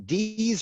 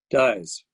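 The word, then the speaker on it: Dies: Is it the chair of HUAC, the House Un-American Activities Committee, is it Congressman Dees or Dyes? Dyes.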